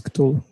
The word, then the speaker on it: Cthulhu: Or how do you pronounce it in English? It's Cthulhu.